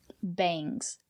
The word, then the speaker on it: bangs: Bangs. Use the long A.